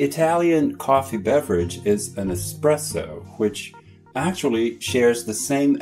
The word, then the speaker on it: espresso: Because you have express in English, people think the drink is an espresso, which is a mispronunciation of espresso.